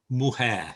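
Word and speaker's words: mujer: the first one there muhair yeah moo like a cow hair significa woman in english and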